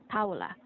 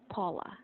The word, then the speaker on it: Paula: it is acceptable if you pronounce it Paul Paola we have Paola it's also a very common name here but in the u.s. you might hear them pronounce this as Paula as Poh Pau Paula